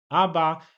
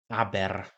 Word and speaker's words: aber: I końcówki r wymawiamy w języku niemieckim jako takie słabe a, czyli aba. Nie wymawiamy tak dokładnie aber, czyli tego r na końcu tak nie słychać.